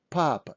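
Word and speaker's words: папа: so this is papa papa stressing is on first ah papa so pause my video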